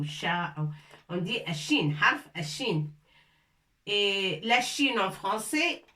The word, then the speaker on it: شين: Si on veut parler de la lettre, on dit shin. On ne dit pas sha ou shi ou sha. On dit shin, harf shin.